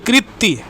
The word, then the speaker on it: কৃতি: কীর্তি sorry কৃতি এটা উচ্চারণ কিন্তু কৃতি।